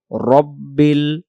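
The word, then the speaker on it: رَبِّ: লিল্লাহি লামের খারা জবরকে এক আলিফ টানব লিল্লাহি রব্বিল রব্বিল রব্বিল রাব্বিল উচ্চারণ করবো না তাহলে আমরা পড়বো আলহামদু লিল্লাহি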